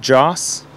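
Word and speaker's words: Jas: It's spelled J-A-S, Joss.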